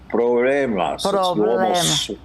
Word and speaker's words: problemas: What and I kind- like the way you don't pronounce the B as much as problemas. It's soft. Problemas.